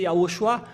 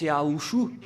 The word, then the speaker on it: Yahushua: Si on devait prononcer Yahushua, ils sont bizarres et ils prononcent Yahouchou car ils sont avec